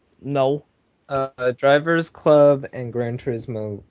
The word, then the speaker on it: Gran Turismo: and it's great it's Forza five I said Grand tourism there was a lot of hyperbole for them